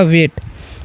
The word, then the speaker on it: wait: तो W से हम लोग क्या पढ़ते हैं वह, और AI जब भी रहता है तो उसका उच्चारण ए किया जाता है, यानी कि एकले, तो याद रखना आपको। ठीक है, तो हम एकले कर देंगे, और T से क्या पढ़ेंगे, ट, तो हो गया वेट।